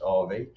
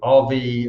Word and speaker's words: Avi: see is uh so it's spelt avi but pronounced rv so rv uh versus lauren southern uh here rv versus